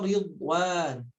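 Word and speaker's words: رِضْوَانٌ: Minallahi wa ridwan. Ridwan, ya. Di sana bo-nya tidak memantul tapi ditebalkan tanpa ada pantulan.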